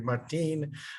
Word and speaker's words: Martin: I live in Costa Rica, so sometimes I go to Martin.